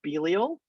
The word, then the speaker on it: Belial: is the main characters you know how to pronounce all of these except this name right here is belial belial and this one down here is bilzebub